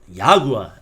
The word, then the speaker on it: Jaguar: Well, it's called Jaguar, as you pronounce it in German.